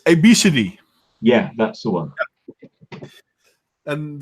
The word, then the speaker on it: Abcde: which is ABCDE but it's not pronounced ABCD in no it's obesity yeah that's the one